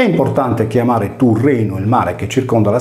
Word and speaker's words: Turrenum: caso del mare Tirreno, che viene scritto in latino Turrenum e pronunciato Tirrenum. Seguendo una corretta trascrizione, il termine deve invece essere letto come Turrenu, senza la desinenza M finale del nominativo singolare, perché il sardo non